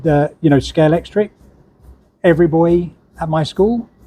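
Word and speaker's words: Scalextric: only people I've heard actually calling it proper name scale yeah nobody ever pronounces the X yeah no they scale scale electrics scale Elric I practice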